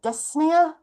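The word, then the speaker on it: dyspnoea: The medical term for breathlessness is this word at the bottom here, dysnia. you don't pronounce the P.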